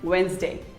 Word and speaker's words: Wednesday: say it as wednesday but it is not wednesday it is actually wednesday say wednesday wednesday who doesn't love pizza